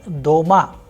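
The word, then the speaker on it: дома: For example in the word doma which means at home the vowel sound o is pronounced with greater force.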